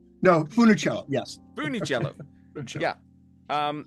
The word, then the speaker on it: Funicello: and I funich cello is that how you pronounce the name yeah funny cello no Funicello yes fich cello yeah um and there there